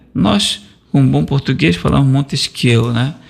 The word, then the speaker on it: Montesquieu: Nós, com bom português, falamos Montesquieu, né? Mas a pronúncia, vou dizer que é Montesquieu, que no francês você nem sempre fala as últimas letras, tendo como objetivo, ao